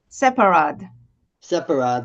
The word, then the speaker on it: Sepehrrad: Sherad and Sheperd. Am I pronouncing that correctly? Dr. Separ thank you.